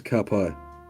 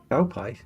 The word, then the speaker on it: ka pai: Good work is ka pai. I know that. Cow pie? No, not cow.